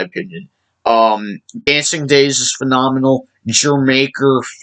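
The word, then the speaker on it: D'yer Mak'er: I've seen a lot of YouTubers pronounce it Dire Maker, or something like that, or Deer Maker, Jermaker, the country Jamaica. It's a play on word.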